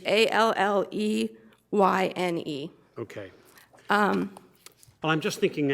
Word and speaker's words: Alleyne: it's the Allen case, it's 133, Supreme Court 2151. I may be pronouncing it incorrectly, although I Googled it. It is Alleyne.